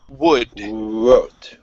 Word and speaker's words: wood: Okay, so you're going to start off with the oo and then open your mouth slightly. Wood. Wood.